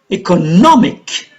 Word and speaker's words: economic: Economic, on the third syllable.